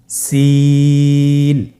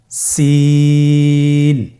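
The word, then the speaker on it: سين: সিন হরফটি বারিক হরফ, পাতলা করে উচ্চারণ করতে হবে। তাহলে আমার সাথে বলুন, সিন। আবার বলুন, সিন।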